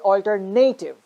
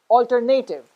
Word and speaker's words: alternative: are we doing is we are actually stressing the third syllable that's why we say it altered native but the third syllable is not the one that is stressed the second syllable is the one that is stressed so when you have to say the stress the second syllable this pronunciation becomes alternative okay so i'm not